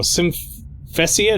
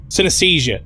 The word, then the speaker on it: synesthesia: Symphesia? No, that's not it. Synesthesia. That's it. I remember now.